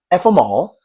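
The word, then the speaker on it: FMōL: First off, it's pronounced f them all, and it's got that name because that's how I feel about 85% of the time.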